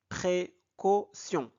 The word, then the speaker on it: précaution: Alors t I o N se prononce si précaution avant de partir Monsieur